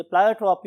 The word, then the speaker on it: pleiotropy: यस my dear students, अगर आप pronunciation की बात करें तो बहुत से लोग इसे प्लायोट्रॉपी और बहुत से लोग इसे प्लियोट्रॉपी भी बोलते हैं.